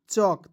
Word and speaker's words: chalk: CHALK चौक चालक नहीं पढ़िएगा, ठीक है।